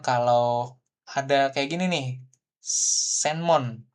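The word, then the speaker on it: せんもん: Kemudian kalau ada kayak gini nih, senmon ya kan? Senmon itu adalah biasanya bacanya jadi semong gitu ya, semong gako gitu ya, seperti itu.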